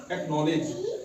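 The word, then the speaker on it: knowledge: silent रहता है के से पहले सी हमेशा साइलेंट रहता है इसलिए हम आवाज नि है सी की नहीं नलेज दूसरा वर्ड है हमारे पास नलेज क्या हैनले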